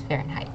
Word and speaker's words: Fahrenheit: Fahrenheit yes very good it is Fahrenheit so this H is not pronounced um can I have